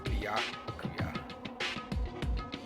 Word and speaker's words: Byakuya: Byakuya. It's Byakuya.